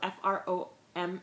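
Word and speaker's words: Fromm: teaspoonful of this or something he's coming home from the breeder eating food that I don't really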